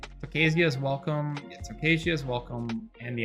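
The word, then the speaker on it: Tocasia's Welcome: It's Tokasia's Welcome, yeah, Tokasia's Welcome, and the Ajani.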